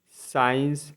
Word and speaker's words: science: एस के बाद भी सी आता है तो आपका सी साइलेंट रहता है। जैसे SCIENCE साइंस मतलब विज्ञान।